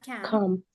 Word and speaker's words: camped: He has camped. Camped is the past tense of camp and the pronunciation of a T. Camped, like this. Camped with the T.